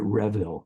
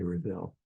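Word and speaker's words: Reville: Alma reveal yes um I think she pronounced it Revel was it Revel but I always say reveal I you know listen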